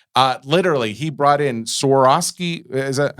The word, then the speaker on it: Swarovski: Uh literally he brought in Soroski. Is that how am I pronouncing it? Soroski.